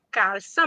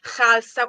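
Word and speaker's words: Kalsa: di Palermo, la Calza, che noi in lingua siciliana purtroppo pronunciamo in maniera errata perché non sarebbe calza, ma Khalsa, quindi con un suono tipicamente arabo.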